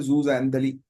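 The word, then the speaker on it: zooxanthellae: ये लिखा हुआ है यहां पर जो मैंने हाईलाइट किया है जूजंथली बोलते हैं इसको। इसका प्रोनाउंसिएशन है जूजंथली।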